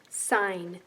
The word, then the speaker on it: sign: g is silent and in this word s ein sign the g is also silent in net another special sound